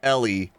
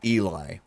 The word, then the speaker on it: Ellie: I love how his first post says it's pronounced Ellie, not Eli.